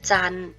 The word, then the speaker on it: จันทร์: เสียง ตอเต่า รอ เรือ จันทร์ เรา จะ ไม่ ออก เสียง ทอ ทหาร รอ เรือ และ พันธุ์ เรา จะ